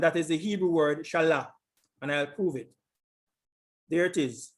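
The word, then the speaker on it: שָׁלַח: 79 71 and that is the hebrew word shalla and i'll prove it there it is the hebrew word this is the pronunciation again strong's h 79 71 so that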